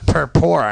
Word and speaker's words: Purpura: it that way but when you spell it that way you get what it sounds like it spells how would